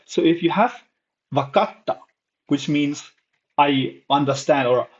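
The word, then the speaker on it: 分かった: Um, and then yeah, so if you find a small tsu, it's a pause, right? Wakatta, not bakata. If you remove this, it's wakata, and this is wakatta.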